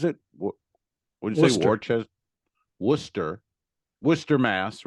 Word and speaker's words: Worcester: it's probably Quincy because in Massachusetts they pronounce all the names slightly different because they're um the ugly stepchild of England like Peabody is called Peabody and War sister is called Worcester but go ahead Quincy